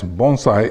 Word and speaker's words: bonsai: have here is the Chinese character and it's pronounced as bonai in Japanese okay so essentially this just says